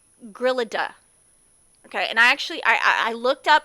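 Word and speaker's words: Gryllidae: family of insects called Grillida. Okay, and I looked up how to pronounce it. Some of these scientific words, boy, they give me a lot of trouble. Grillida, okay? It sounds like grilled cheese.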